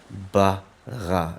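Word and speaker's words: ברא: a kametz, and it ends off with an aleph, which has no sound. So, Bereshit bara.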